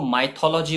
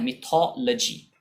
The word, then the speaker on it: mythology: लोग इसको माइथोलॉजी बोलते हैं, लेकिन ये थॉरली इनकरेक्ट प्रोनाउंसिएशन है। इसका सही प्रोनाउंसिएशन होता है मिथोलॉजी।